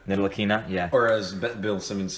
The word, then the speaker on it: Ntilikina: Nitalinka? Ntilikina. Nitalikina, yeah.